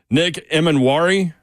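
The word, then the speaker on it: Nick Emmanwori: Nick Emanwari. Is that how I pronounce that, Zeph?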